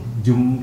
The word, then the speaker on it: Djoem: Jum itu ejaan nama DJOEM.